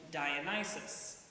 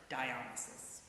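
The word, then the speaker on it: Dionysus: of you know him by the old British pronunciation dionis but that's one more thing the Brits got wrong in Greece he is called dionysis so what does this old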